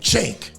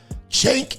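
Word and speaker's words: Cenk: Now, if you don't know who that is, that is a man named Chank. C E N K. Chank. I can't even pronounce his last name.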